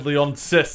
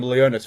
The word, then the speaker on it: Leonsis: Lord and Savior yeah Ted lianas Ted Leonsis Leon Sicily insist I've been calling him Leona's for ages he doesn't deserve that the